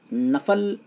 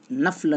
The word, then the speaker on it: نفل: رہے ہیں، اس لیے آپ یاد رکھیں کہ نفل صحیح تلفظ ہے، نفل نہ کہے۔ نفل کو نفل اس